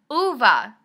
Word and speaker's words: Ove: I was almost done with a man called OVA that's how you pronounce it Luba I've been saying it wrong